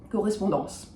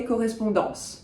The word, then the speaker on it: correspondance: I will tend to say correspondance to the end of the word.